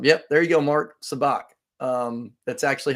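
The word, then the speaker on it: sabacc: now the name of the game is called sabac s-a-b-a-c-c i believe they spell it um yeah there you go mark sabach um that's actually how lando lost the millennium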